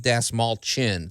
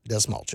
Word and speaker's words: Dastmalchian: way to say Dave D small chin think of small chin Dave has a small chin David D small chin I'm excited about this